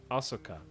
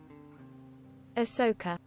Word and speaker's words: Ahsoka: gotta go rescue Leviosa you're saying it wrong Asoka how do you say it Asuka I how am I supposed to say it ask Google how do to say Ahsoka Ahsoka Ahsoka all right thanks now